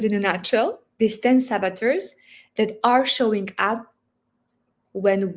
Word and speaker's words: saboteur: So it's saboteur. That's how you would pronounce it?